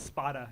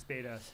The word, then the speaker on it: Spada: Just for the record, for the people at home, it's Spada. It's not Spada. It's Spada. Well, Spada is like, I guess, the Italian way to pronounce it, so it's an Italian name.